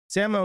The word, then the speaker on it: Samoa: and just wait and see if these Banks Samo is how you pronounce Samoa that's the actual that's how they